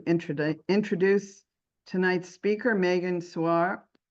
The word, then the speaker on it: Suau: introduce tonight's speaker, Megan Suare. Sar, am I pronouncing your your name right? I should know by now between you and your father. You're doing great. Swah. It's easier than it looks. Suah.